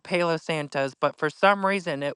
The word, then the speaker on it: Palo Santo: I call it Polly Santos. It's pronounced Palo Santos.